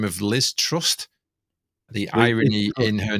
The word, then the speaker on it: Truss: a name of Liz Truss. The irony in her name is I don't think there's a T on the end. It's just Truss, isn't it? Trust.